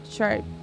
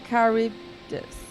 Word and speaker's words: Charybdis: I think it is pronounced something like Charybdis. Charybdis, but I might be wrong.